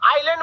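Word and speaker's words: island: आइलैंड में क्या silent रहता है?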